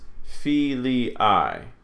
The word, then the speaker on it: filii: IA is not a diphthong. So this is filii.